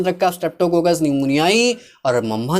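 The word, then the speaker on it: pneumonia: निमोनिया पी न्यूमोनिया मत बोलिएगा इसको, निमोनिया है, पी साइलेंट रहता है भाई, ठीक है।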